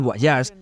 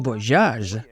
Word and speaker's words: Voyage: Empecemos por el exterior del Guayas. Y por cierto, sí se pronuncia y no voyage, quería darle un toque francés y eso también fue